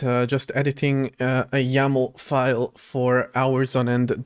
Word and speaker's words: YAML: I learned that's pronounced YAML and not YML apparently.